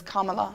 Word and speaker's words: Kamala: her name however yeah I was shocked to find out it's Kamala Kamala Camala yeah Kamala yeah